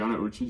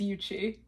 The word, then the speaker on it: Ucci: friend of mine GI iuchi GA would you like say introduce yourself first you said my name wrong how do I pronounce it's Uchi are you serious are